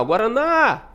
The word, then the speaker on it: Guaraná: Estou chamando a palavra Guaraná. Guaraná. O na demora mais, né?